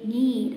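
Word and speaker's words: knead: K-N-E-A-D, need means mixture of flour. Next, N-E-E-D, need means want.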